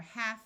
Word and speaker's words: half: and yoke and two more common words are half and calf if you found this video useful